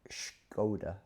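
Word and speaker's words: Škoda: Now, now in contrast, now apparently Scoda Scoda is the correct pronunciation.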